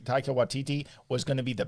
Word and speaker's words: Taika Waititi: Taika Waititi. Taika Waititi was going to be the bad guy in the Free Guy movie.